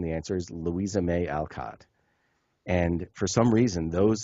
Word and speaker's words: Alcott: Little Women and the answer is Louisa May Alcott and for some reason those syllables could not be assembled in paully Sha's